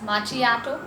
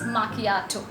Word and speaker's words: macchiato: struggle comes why because a lot of people are not even able to pronounce it properly some pronunciation some pronounce it as machiato but the correct pronunciation of this particular coffee is machiato now what does it